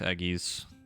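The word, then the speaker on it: Egi: God, imagine summoner edgies looking like that in 14. Fucking imagine though. I've heard it pronounced both ways. Edgies, eggies. I've heard both.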